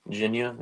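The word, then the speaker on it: Jinya: sure that's a chain Ginia is a pretty good ramen I'm big fan of the ramen game it's uh very SLP on what how that's pronounced but it's like j i n y a so and it's pretty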